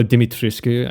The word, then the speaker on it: Dimitrescu: Also, you know how Lady Dimitrescu, or Dimitrescu, I guess, because that's how it's supposed to be pronounced, was kind of the main selling point of the game when it first came out?